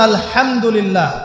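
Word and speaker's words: الحمد لله: আপনি পড়ছেন আল্লাহু আকবার আলহামদুলিল্লাহি রাব্বিল আলামিন এইতো আপনি পড়ছেন আলহামদুলিল্লাহ শব্দটা কি আলহামদুলিল্লাহ এই হা এর মাখরাজ কোথায় হা এর মাখরাজ কোথায় বলেন একজন কণ্ঠনালীর মাঝখান থেকে এখান থেকে আপনি উচ্চারণ করছেন আলহামদুলিল্লাহি রাব্বিল আলামিন অর্থ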